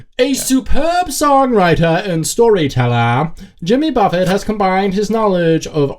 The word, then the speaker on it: Jimmy Buffett: but you i'm sorry you were pronouncing his name incorrectly it's pronounced jimmy buffet i don't know if